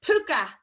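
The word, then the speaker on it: púca: But the most common word for ghost is puka. Puka. And look how fitting that it has a U fada in it.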